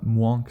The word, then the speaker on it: mwonk: When rhinos are happy, they vocalize it as what is described as a mwonk sound. That is spelled M-W-O-N-K and pronounced exactly how you would think.